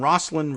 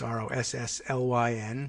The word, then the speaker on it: Rosslyn: modern office tower in Rosslyn Virginia just outside of Washington DC if you want to look it up it's ro SS ly n pronounced Rosslyn Rosslyn even sometimes glass-walled conference